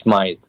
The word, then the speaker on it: Smyth: own last name because to me it looks like smith and i know that's not how you pronounce it well i've had a